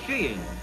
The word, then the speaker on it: skiing: Fast becoming one of the most popular of winter sports is sheing. And sheing is the correct pronunciation, they tell us.